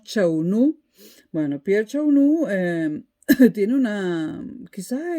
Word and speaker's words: Chaunu: Es más, hay un historiador francés ya fallecido, Pierre Chaunet, no sé cómo se pronuncia, Pierre Chaunot, o Chaunu. En español diríamos Chaunu.